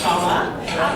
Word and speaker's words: Shola: First thing I want to say, though, is although my name is spelled Shola, it is pronounced Shola. Yes, it's a Nigerian name. It's a shortened Nigerian name.